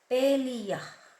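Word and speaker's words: palea: Paleia, that's how you pronounce it and spelled as P A L E A.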